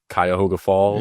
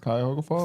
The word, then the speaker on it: Cuyahoga Falls: My grandpa's from, I always butcher the name, but Cuyahoga Falls. Yeah, Cuyahoga Falls.